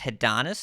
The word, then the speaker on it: Hedonis: Hedonis is pronounced Hedonis. No, there is no letter R anywhere near his name.